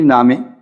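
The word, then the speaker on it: نامه: اگر شما نامرا نوشته بودید، اگر شما نامہ را، نامہ یعنی نامے، لہجے، ایک لہجے میں نامے اور ایک میں ہم کہیں گے تو نامہ کہیں گے.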